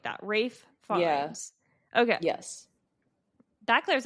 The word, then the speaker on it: Ralph Fiennes: Rafe Fiennes. The L and PH in Ralph are silent and the E in Fiennes is not pronounced. So it's Rafe Fiennes.